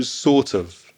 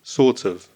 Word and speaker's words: sort of: just had my dinner so again that pronunciation sorts of the of becomes weak of and the T of sort joins with the vowel sound of oof so sort of sort of I'm feeling sort of